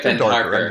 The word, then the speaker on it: Pendharkar: pronounce the last name, please. Pendharkar.